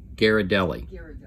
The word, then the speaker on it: Ghirardelli: How you pronounce the name of that? Ghirardelli.